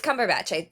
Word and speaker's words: Cumberbatch: It's Cumberbatch. I had to make sure because there are people that make jokes and call him Cumberbun. It's Benedict Cumberbatch.